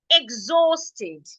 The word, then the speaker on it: exhausted: and the last example the H in this word is silent so the next sound that I have after the H is also a vowel so because I have a vowel after my ex my ex should sound G and because I am not stressing the E the E should sound a exhausted please say after